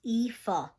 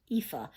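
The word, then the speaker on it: Aoife: looked it up and it says that it's pronounced IFA IFA I actually found this really nice list and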